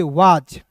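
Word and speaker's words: was: उसके बाद देखिए डब्ल्यू ए, तो डब्ल्यू का हुआ, एस से आ की मात्रा, एस का उच्चारण दोस्तों ज के रूप में करेंगे वाज, डब्ल्यू ए एस को क्या पढ़ेंगे दोस्तों, इसे पढ़ेंगे वाज पढ़ेंगे, क्लियर ना।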